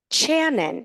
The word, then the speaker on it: Channon: Channon. It's like Shannon, but with a ch.